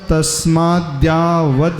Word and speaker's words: तस्माद्यावद्: हमने जैसे तोड़ करके पढ़ा है वो मूल में तस्मात् और यावत्, द्य है तो उसमें द और य होता है। जैसे विद्या में कैसा होता है, वी द हलंत और या, ऐसे ही